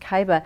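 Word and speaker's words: Kyyba: I love the name, Kaiba. It's just spelled K-Y-Y-B-A. That's right. K-Y-Y, two Y's and a B-A. Pronounced Kaiba.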